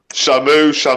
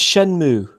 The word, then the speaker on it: Shenmue: Shamu. It's not it's Shenmue.